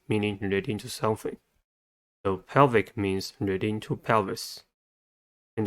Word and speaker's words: pelvic: The next one is a pelvic fin. Pelvic has 2 syllables and the stress is at the first one.